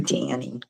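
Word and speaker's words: Dhani: which one is George's son that would be Danny and it's spelled d h a n i d h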